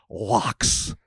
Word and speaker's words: loch: depths of its innumerable lochs. Hope I said it right. Loch. I was told to say it like phlegm.